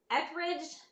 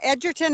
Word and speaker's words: Edgerton: company and you mentioned is it eckrich am i pronouncing it right from Alberta where you're from it's a Edgerton Alberta okay Frankie here yeah Edgerton yeah awesome thank you I